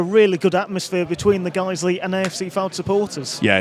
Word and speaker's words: Guiseley: By the way, both sets of fans adding an extra syllable to their team's names. Fylde and Guiseley. That's a little fact for anyone that may not have noticed it. It's actually Fylde's one syllable, Guiseley's two.